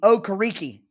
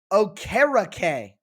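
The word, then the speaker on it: Okereke: pointed out my comments it is not bobby okariki like i had said like had been said for the first few seasons of his career he changed i mean he changed his name like puff daddy he reinvented himself and i guess prior to this season he told the media hey my name is bobby o'cara k which is more in alignment with his nigerian heritage and how it's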